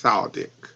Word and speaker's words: El Sadek: Please pronounce her last name for me once again. Sandra El Sadek. It's Saldic. It's Saldic.